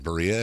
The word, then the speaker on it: birria: Or sometimes they do like a birria taco where they put cheese over it. Oh, you did the R thing. Yeah. I can't do that. That's how it's pronounced.